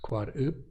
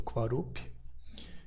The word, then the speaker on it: Quarup: Então temos Quarup, que é a árvore do sol ou a festa do Quarup, com um P não explodido.